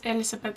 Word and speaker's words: Elísabet: guess as I said my name is Elizabeth it's an Icelandic name that's why I pronounce it like I do but you can call